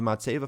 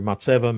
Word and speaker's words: Matzevah: leadership in his role as president of the matseva foundation he leads members and volunteers to educate